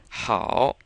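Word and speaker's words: 好: how which means good so the H in pinion sounds pretty much like our H but this a and o kind of sounds like ow with this o here being very light which means you shouldn't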